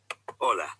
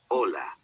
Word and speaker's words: hola: did you notice that although hola starts with the letter h it is not pronounced the letter h is